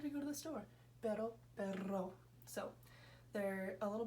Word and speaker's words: pero: Pero, perro.